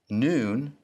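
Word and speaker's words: נוּן: the m in mother noon sounds like the n in now somic is one of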